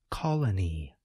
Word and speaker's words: colony: Note that the second letter O, the one that appears toward the end of the word, suggests this vowel sound, We call this the neutral vowel sound.